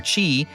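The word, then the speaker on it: Kingdom Hearts χ: hearts with an X pronounced key or Kai or Chi as in the Greek letter but we're going to call it key because obviously keyblade the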